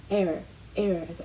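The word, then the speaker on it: heir: air에서 h는 묵음이고 상속자를 의미합니다.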